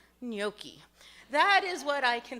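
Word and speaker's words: gnocchi: Nothing comes to my mind except for a word that starts with a silent G. Nyoki.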